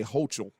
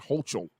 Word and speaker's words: Hochul: last name, Kathy Hochul, I'll say Hochul, that's how you say it, Hochul, is now signing an